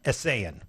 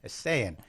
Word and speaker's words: Esayian: Esayian. Esayian.